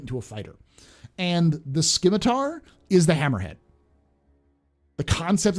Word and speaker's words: Scimitar: There's no K in Scimitar. I know it's Scimitar, but they pronounced it Scimitar. So, because they're German, so we're saying Scimitar.